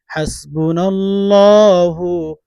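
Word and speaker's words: حسبنا الله: হাসবুনাল্লাহু ওয়া নি'মাল ওয়াকিল। শুদ্ধ করে। অনেকে হাসবুনাল্লাহ বলে। না ভাই বোন, হাসবু হবে না। আমি যেভাবে বলছি সেভাবে উচ্চারণ করুন।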